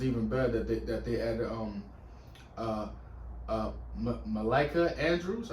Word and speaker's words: Malika: And it was even better that they added Malika Andrews. I think her name is pronounced Malika.